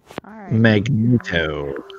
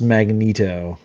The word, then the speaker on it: Magneto: or magneto me yeah i pronounce it like burrito magneto magneto they might not